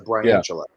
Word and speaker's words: Briantula: I think the way I see it is, when you think about the spider, a tarantula, it's a Briantula.